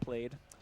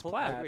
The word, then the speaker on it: plaid: Plaid and played. Oh, you say played? Well, I did because I'm an idiot, but I was informed it was plaid.